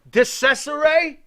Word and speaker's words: DeCesare: Was that Phil DeCesare? Because that's how you say his name.